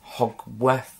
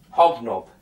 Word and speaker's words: Hognob: And Hogworth... I'm going to keep saying his name wrong, aren't I? I'm going to look it up in a minute. Hognob. Right, the pig is called Hognob.